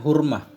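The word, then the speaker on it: حرمة: Tidak sampailah oleh siman yang telah sampai ia melainkan dengan hurmah. Bacanya hurmah, melainkan dengan penghormatan.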